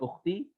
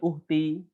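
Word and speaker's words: أختي: Kalau pengen nyebutkan ukhti, ya bukan uhti. Ya bukan uhti. Tapi ukhti pakai kho.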